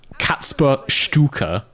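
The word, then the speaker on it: Kacper Stuka: You said it's pronounced, and then you gave me a spelling which is even harder to say. Katzper Stuka.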